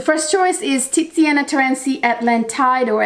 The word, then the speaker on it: Atlantide: choice is titiana terenci atlantide or atlantide it's actually how the italians pronounce it it's an italian fragrance